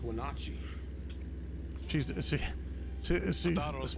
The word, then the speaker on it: Wenatchee: I thought it was pronounced Wenatchee. She's I thought it was Wannahoochee.